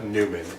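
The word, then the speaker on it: Newnan: Uh, Newman.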